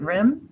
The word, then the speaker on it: REM: Is it REM? Is that how you pronounce it?